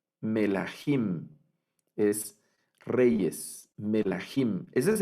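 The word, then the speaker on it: מלכים: Y esta la debemos leer melahim. Melahim es reyes, Melahim.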